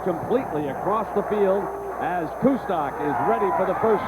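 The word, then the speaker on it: Kustok: the line judge rolled it down so Zach kusto who has done an outstanding job as the quarterback transfer from Notre Dame is from Carl Samberg High School in Orland Park Illinois his name is pronounced kto and he was an outstanding basketball player in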